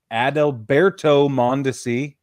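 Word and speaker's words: Adalberto Mondesi: exchange numbers we had Amir Garrett uh Al adalberto montesi that's how you say his name Brad Keller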